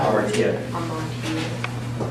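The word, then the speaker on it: ἁμαρτία: For example, how do you pronounce that? Yeah, hamartia.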